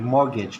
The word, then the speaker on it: mortgage: मॉर्गेज, ठीक है, टी यहाँ पे साइलेंट है आपका.